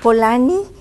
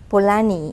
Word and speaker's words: Polanyi: So I came to this conclusion of using Karl Polanyi. In Spanish you say Polanyi. How do you say it, Alta? You don't know? Polanyi.